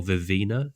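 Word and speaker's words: Vivenna: of view characters vasha vien or Vina as Sanderson himself pronounced and I'm still not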